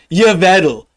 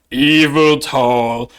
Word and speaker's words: Yveltal: your battle for example how to say its name it's yavado not evil tall second off then she